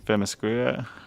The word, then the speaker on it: Themyscira: Themyscira.